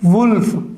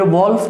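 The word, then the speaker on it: wolf: फिर उसके बाद में है वुल्फ, ये वॉल्फ नहीं है, वुल्फ।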